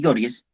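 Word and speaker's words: Gouges: Como por ejemplo, Olimpia de Gorges, o se pronuncia Gorges, autora de la Declaración de los Derechos de la Mujer y de la Ciudadanía, publicada en 1791.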